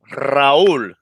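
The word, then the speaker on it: Raúl: I can't roll my R's. That's the problem I have. I can't. Hey, this guy. Hey, I love you, bro. You're my boy. His name is Raul, and in Spanish, his name is Raul. Raul.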